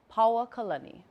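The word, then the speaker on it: Paoakalani: Paoa Kalani is the name of one of Lili'uo Kalani's residences, and it's pronounced just like that, Paoa Kalani, no okina.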